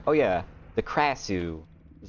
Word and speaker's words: Krasue: people speaking about her, they like didn't pronounce the R. Like the R almost sounded like it was an H instead.